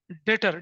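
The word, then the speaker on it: debtor: ऐसे ही credit sales करी, credit sale से क्या बनता है, डेटर। डेटर इज a person, B silent होता है, डेटर इज अ पर्सन जिससे हमें फ्यूचर में पैसा वसूलना होता है।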